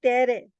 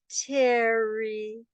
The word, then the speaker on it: Tere: Hi, I Tere. Ah, Terry. No, it's Tere. No, it's pronounced Terry. No, it's pronounced Tere. No, watch my mouth. Terry. Terry. See? No, it's Tere. It's always been Tere.